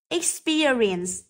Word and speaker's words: experience: vào từ l next C experience experience vậy từ experience cũng rơi vào âm thứ hai rơi vào từ Spear D receptionist rơi vào